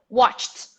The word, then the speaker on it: watched: to ignore the e ignore the e ignore it include the t watched watched watched watched everybody